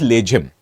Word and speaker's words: Lejhim: Now, in English, it is written as Lejhim, but in Marathi, which is the original language in which the dance happens, it pronounces Lejhim.